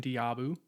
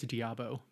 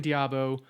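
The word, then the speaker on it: d'Abo: This is Miam Diabu. I keep saying it wrong. I think it's Diabo.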